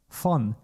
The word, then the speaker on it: von: V you find it in the word von, from, von. And this letter V, or V in English, is pronounced exactly the same as the letter F in German, A, B, C, D, E, F.